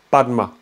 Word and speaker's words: Padma: ont fait ça, ben, on dit Padma, on dit pas Pema. C'est pourquoi le 17e Karmapa, d'ailleurs, sans cesse, ou d'autres, hein, y a plein de Tibétains maintenant, qui reviennent à la prononciation sanscrite des mots tibétains.